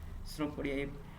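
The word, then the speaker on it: pseudopodia: और यहाँ से फूड आएगा, आजा फूड, ये है पेसुडोनोपिया, ये स्नोपोडिया, ये फूड आया, पी साइलेंट होता है, स्नोपोडिया, ये फूड आया और ये अंदर इसका लेगा।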